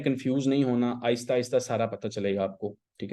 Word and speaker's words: SERP: ठीक है, ये सर्च SERP सर्प इसको बोलते हैं। आप लोगों को शायद इसकी वो जो प्रोनाउंसिएशन उसकी समझ ही ना आ रही हो। SERP सर्प फीचर्स। तो गूगल के ना सर्प